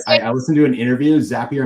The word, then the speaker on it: Zapier: Uh, Zapier. I heard I listened to an interview. Zapier makes you happier is how you got to remember.